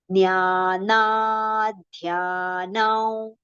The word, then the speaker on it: ज्ञानाध्यानौ: See, look at, observe that particular joint letter carefully. Three letters are joined together, right? Partial the is there, partial the, and ya with a long pronunciation. So, nya, na, dhya. All these three letters we have to prolong.